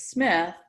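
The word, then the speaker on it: Smidt: you know you think the family name is Smith but you know you see SMI DT which is pronounced Smith and it's not it's not on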